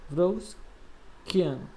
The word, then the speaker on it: Wronskiano: Wronskiano. Então, vamos supor que o nome que se pronuncia assim, tá?